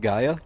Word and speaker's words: Gaia: Gia, huh? It's pronounced Gaia.